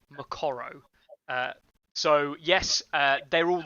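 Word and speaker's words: Moqorro: baron black tied and morocco as he's pronounced here which is not his name if you actually go and check it up on in the songwriting fire law as you'll know it's actually macoro so yes uh they're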